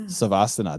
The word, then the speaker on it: Savasana: Savasana.